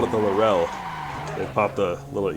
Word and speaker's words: Laurel: driving this c33 larell I have to say it like the Aussies - like when I